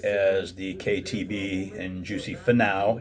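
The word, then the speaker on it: Finau: the KTB and Juicy Fanau. It's not Fanau. Apparently it's Fanau. It's how the announcers are pronouncing it.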